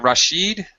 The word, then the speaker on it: Rashid: leave okay ah rachid is it Rashid yeah I am am i pronouncing your name correctly yes good oh wow good